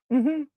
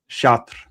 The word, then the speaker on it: Chartres: Chartres. So there's an RE on the end.